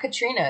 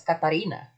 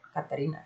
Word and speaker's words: Katarina: to um the homegirl i think it's katarina it's not katrina it's catarina that's how you say it katarina so now we are